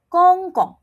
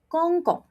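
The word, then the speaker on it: 公公: I repeat, gong gong. Do not say it as gong gong. Remember, the G becomes K. So, when you pronounce it, don't blow and you say it like this, gong gong.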